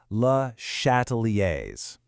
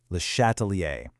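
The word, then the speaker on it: Le Chatelier: It's pronounced lattalier. Lehatalier.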